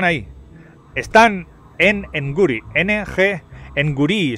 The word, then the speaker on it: Nguri: N-G, Nguri se escribe. Nguri, como gnomo, pero al revés.